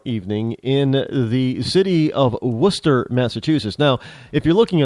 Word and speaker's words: Worcester: keynote address tomorrow evening in the city of Worcester, Massachusetts. Now, if you're looking on the map and you're not from New England, then you'll never find Worcester.